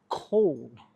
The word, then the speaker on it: cawl: Uh, I've always wanted to try a local dish called Cole. I think it's pronounced call.